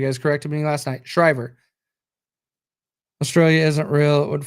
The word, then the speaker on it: Shriver: Shriver.